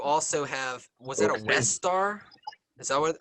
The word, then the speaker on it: Westar: And you also have, was that a West Star? Is that how you pronounce it? Yeah, it's a Westar That's a 35 knee?